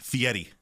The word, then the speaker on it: Fieri: big yeah it's alright it's fee at E fee Eddie like there's like a T where there's not a T it's not an RV